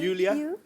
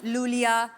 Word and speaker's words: Iulia: यू यू yes. Pronounce यूलिया। यूलिया। एंड the spellings are आई यू एल आई ए। सो आई I think you know I mean why I everyone is calling me लूलिया लोलिया बट लोलिया लोलिया आई